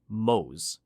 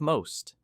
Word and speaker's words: most: Learners from many language backgrounds drop them. They say round instead of round or mo instead of most.